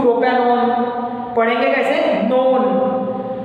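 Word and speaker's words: propanone: ओन का प्रोनाउंस आता है, किसका प्रोनाउंस आता है वहां पे, ओन का। तो जो ONE है उसको प्रोपेनॉन या प्रोपेनॉन ऐसा नहीं पढ़ते, प्रोपेनॉन पढ़ते उसको। ओन ऐसा आपके मुंह से प्रोनाउंस निकलने होना प्रोपेनॉन के लिए।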